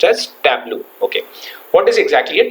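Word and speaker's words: Tableau: a b l e au but it is pronounced as tblo okay what is exactly a Tabo it is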